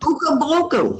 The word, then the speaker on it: Okanagan: Okanagan.